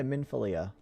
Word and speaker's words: Minfilia: talking we now just have to talk to minifilia minifilia minfilia minfilia yeah minfilia it's an interesting name it's just no matter how many times you try to pronounce it it doesn't sound different just one